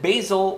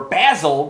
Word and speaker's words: Basil: We have Jennifer and Basil, or Basil, because that's how they say it in England.